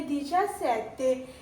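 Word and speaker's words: diciassette: ई है, सी के साथ ई है तो ची बनेगा। आगे क्या है? आ है तो क्या बन जाएगा? दीचा सेते। क्या बन गया ये? दीचा सेते।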